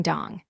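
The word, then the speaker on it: 동: And the bottom circle here is a final consonant so it is pronounced in G giving dong.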